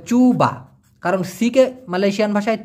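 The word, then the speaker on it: cuba: দেখা সেটা হচ্ছে বাঙ্কান চুবা বাঙ্কান কল্পনা করার চেষ্টা করো চুবা বাকান চুবা মানে কি চেষ্টা দিয়ে এখানে সি ইউবি উচ্চারণটা হবে চুবা কারণ সিকে মালয়েশিয়ান ভাষায়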